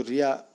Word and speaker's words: wry: WRY, ये जो इसको रिया बोलते हैं, इसका प्रोनाउंसिएशन रिया होता है।